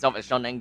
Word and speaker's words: Shanang: I heard her saying herself as Shanang Gaming.